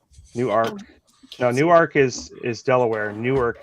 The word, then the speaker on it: Newark: like spelled like the city in New Jersey. New Arc. Newark.